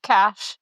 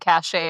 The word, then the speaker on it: cache: So, I think of cash and cashache as two different things. Cash is like the the queue of things that are in my internet browser. Uhhuh. because I've only ever heard that one pronounced cash. I've literally never heard it pronounced cashache, but I think cashache is like reputation.